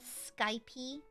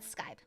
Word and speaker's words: Skype: Um, how'd you pronounce Skype when you first saw it? I actually call it Skypy.